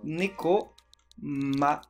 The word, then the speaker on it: Nekomata: Nekomata. Ça s'écrit comme ça se prononce. Hein. Sans double lettre, ni rien du tout.